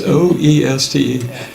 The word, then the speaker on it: Oeste: They, from east to west respectively, they're Deep Creek, Oro Grande Wash, and Victorville, and how do you pronounce it? Westy? Westy, okay. Yeah, I know. It's Oeste. So it's the westernmost location